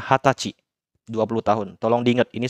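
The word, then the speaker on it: はたち: Dia nggak pakai kata sai ya. Dia makanya hatachi. Dibacanya hatachi.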